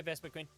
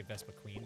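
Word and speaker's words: Vespiquen: I mean, it's spelled Vespa Quinn, but I always say Vespa Queen because that just makes sense in my brain.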